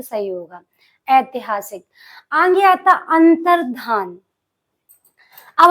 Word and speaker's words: अंतर्धान: आगे आता अंतर्धान अब हम लोग क्या बोलते से अंतर ध्यान हो गए भगवान जी आए और अंतर ध्यान हो गए अंतर ध्यान नहीं होता है अंतर धान होता है यहां पर आपको ये चीज याद रखनी अंतर धान ना कि अंतरध्यान आगे आनुषंगिक ये वर्ड